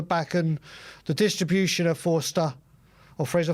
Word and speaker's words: Forster: We have tried this playing out from the back, and the distribution of Forster, or Fraser, how do you pronounce it? Is Forster. Forster, as in four-star.